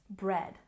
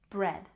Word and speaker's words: bread: a look at pronunciation it's not breed it's bread bread and here we tend